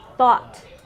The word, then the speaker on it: thought: No H, so it's just taught. This one is thought because it has that TH, right?